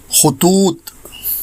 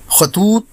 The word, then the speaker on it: خطوط: ایک لفظ روزانہ میں، اور ہمارا آج کا لفظ ہے خطوط، جو درست ہے خطوط بولا جاتا ہے، جو غلط ہے۔ یہ خط کی جمع